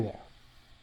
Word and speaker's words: the: However, I need to check if the next word starts with a vowel. In this case, it doesn't, so it sounds like the, where here we're using